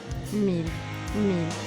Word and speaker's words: mille: So how is it pronounced? Mille.